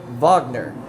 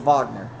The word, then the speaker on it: Wagner: Uh, and the last one from the Orlando Magic, France Vagner, I believe, is how you say his name. It says Wagner, but I think he's French, so it's a Vagner.